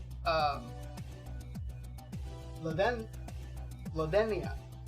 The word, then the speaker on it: Ladenia: called um the then ladenia the dania the d is pronounced like a th it is a greek